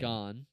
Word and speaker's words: Gane: Well, if you learn how to pronounce his name, you'd realize that joke doesn't even come close to working. What do you mean? It's Gain. gone.